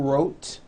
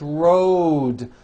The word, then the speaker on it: road: It's not wrote, unvoiced, it's road. The whole word is voiced.